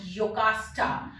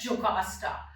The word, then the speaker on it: Jocasta: So in Greek, German language, J is pronounced as y. It's not j. It's y. So many places you will write it as Jocasta, and many places it is in English.